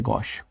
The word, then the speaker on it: gauche: ठीक है, ऑकवर्ड होना मतलब GAUCHE, गॉश, हमने अभी देखा था इसका प्रोनाउंसिएशन। ठीक है ना, देन ऑकवर्ड, अब ये अच्छा दोबारा से आ गया, सेम वर्ड है गॉश।